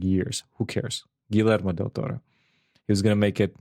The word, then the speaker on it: Guillermo del Toro: almost almost messed up again i called him gold to model torah because i was drunk and i couldn't i didn't know how to pronounce it and also dyslexic so i read